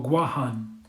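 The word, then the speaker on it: Guåhan: says chao patra oh guam yes guam or gwahan as it's properly pronounced but just like america america takes things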